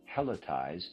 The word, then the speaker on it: helotize: Let them say that what they want is to helotize Central Europe. Readers aside, helletize is spelled H E L O T I Z E.